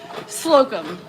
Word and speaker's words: Slocum: Slocum. Rhymes with scrotum.